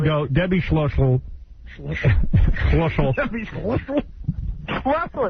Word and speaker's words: Schlossel: Schlossel, it rhymes with muscle.